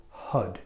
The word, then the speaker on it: Har: But when you pronounce Har, which is spelled H-A-R, you want to take the tip of your tongue and let it flick on the top of your palate. So it's going to sound like Hud.